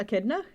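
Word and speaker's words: echidna: comes in sorry is that how how you pronounce that a kidna yeah yeah okay I it's an a kidna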